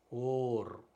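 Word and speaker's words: אור: அலிஃப் உச்சரிக்கப்படுது. இது வந்து ஓ, ஓ ஹோலே வந்து ஓ. இர், ஓர், ஓர் என்றால் ஒளி என்று பொருள்.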